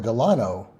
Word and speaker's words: Delano: Uh, 28 across president's middle name accented on the first syllable or California city accented on the second. So, I know Franklin Delano Roosevelt is FDR, former president. Deleno or Delano as a California city.